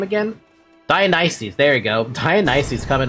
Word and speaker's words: Dionysus: To be honest, how did they pronounce his name again? Dionysus.